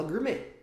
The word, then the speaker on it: gourmet: isso acontece a palavra Gourmet palavra no Gourmet no inglês a gente fala assim né Gourmet só que a gente não fala Gourmet a gente fala Gourmet sem o som do t no final é mais ou menos